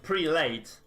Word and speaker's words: prelate: pre the start of it is literally a declension of two words pre and late yeah so I think that's why people say pre- late of course of course it is but the proper pronunciation should be prelate this guy the pret